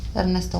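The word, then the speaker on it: Erasto: Ernesto.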